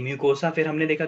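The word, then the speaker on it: mucosa: Layer ही पूछा मैंने, यू आर इन the right direction, but माइकोसा होता है क्या, स्पेलिंग मिस्टेक है, म्यूकोसा होता है।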